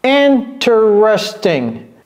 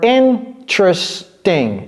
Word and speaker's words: interesting: Interesting or interesting. It can be 3 as well. Sometimes it's 4. Interesting. Sometimes Americans will say it's interesting or it's interesting. 3 or 4.